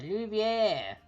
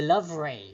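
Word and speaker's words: Louvre: The Louviere. Or the Lovray, if you want to pronounce it literally how it's spelled, but that's not how it's actually said.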